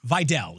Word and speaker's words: Vidal: It's Vidal is how we're pronouncing it. Yes, thank you. Vidal. We have somehow, but like it's either Vidal, Vidal. I already forgot what the right one is. Vidal. Yeah. Vidal. So imagine that his last name is spelled VY-DELL. Vidal. Let me write this down. The way that I think about it. Yep. DELL. Oh, like the computer.